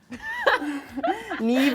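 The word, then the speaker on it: Niamh: Neeb is like N I A M H. There's no V.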